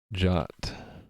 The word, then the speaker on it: JWT: the key word must you must pronounce it the same as the english word jot you're also not calling